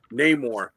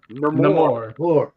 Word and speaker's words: Neymar: And he got to pick and he and he picked Neymar. And listen to how that's pronounced. It's not Neore.